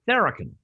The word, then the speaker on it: Tharakan: Did I get it right? Almost. Tharakan. Tharakan. Yeah, there you go. The emphasis is on the first syllable.